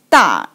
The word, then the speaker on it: 大: Okay, it means pronounced as 大.